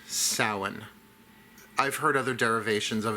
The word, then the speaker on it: Samhain: Now, for newbies, I know it's spelled s a m h a i n, but it is pronounced sin.